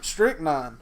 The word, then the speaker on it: Stryknyn: Strychnine, but it's spelled Stryknyn.